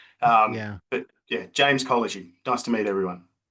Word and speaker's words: Kolozsi: put the last initial cuz I'm struggling to spell it myself. Um, but yeah, James Collagy. Nice to meet everyone. There it is. Right. Collagen.